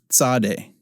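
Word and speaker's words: צדי: it's the final form Sade Sade is next yes as in the word hats that's the sound that Sade makes Sade Sade has a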